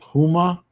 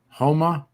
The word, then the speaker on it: Houma: near uh what was it uh how you pronounce it huma houma that was where my father was at one